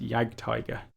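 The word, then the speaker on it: Jagdtiger: or the armor they could muster and it's pronounced yagtiger even the names sound cool they lost the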